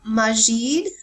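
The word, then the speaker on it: masjid: Um, and it and and the word mosque comes from a word called majid. I think that's how you pronounce it.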